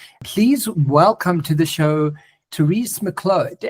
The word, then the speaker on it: Therese Miclot: Please welcome to the show, Therese Miclot. Am I saying it right, Therese? You are. You've got the French. Yes, it's like Merlot.